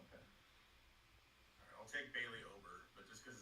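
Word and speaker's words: Ober: Alright, I'll take Bailey over, but just because his name rhymes with ogre, so Not Ogre.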